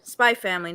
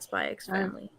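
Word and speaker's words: Spy × Family: one was spyx family spy family not spyx family yeah it's fun to pronounce the X so don't worry about how you pronounce it I know this is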